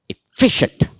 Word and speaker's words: efficient: pronounce take this word efficient efficient efficient where am I stressing efficient it is not efficient it is efficient what is the actual